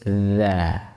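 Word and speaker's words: ذ: Kesalahan saat mengucapkan huruf ' dza' adalah meletakkan ujung lidah pada gigi bagian dalam, sehingga bunyi makhraj dari 'dza' tidak dihasilkan. D da, hasil dari huruf 'da', ya. Ini salah, ya; Ujung lidah berada di dalam atau menempel di bagian belakang gigi. Ini salah, ya; jadinya bukan 'da' tapi 'dza'.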